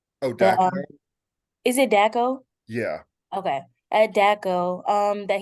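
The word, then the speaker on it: Dachau: I don't know how to pronounce the place. Oh, The Daco? is it Daco?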